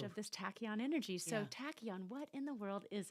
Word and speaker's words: tachyon: It's a strange word that's spelled Tachyon. It comes from the Greek word like tachy, which means fast, like our car has a tachometer to how fast am I going.